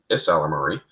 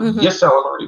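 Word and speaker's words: Ysalamiri: Thank you to the Isalamari. A lot of people say that the Y is silent. It's actually not. It's Isalamari. Not Yisalamari, but Isalamari. Yeah, it's an I and a Y.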